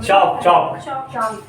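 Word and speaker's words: chalk: Lime stone, marble और marble है, चौक। L silent रहता है।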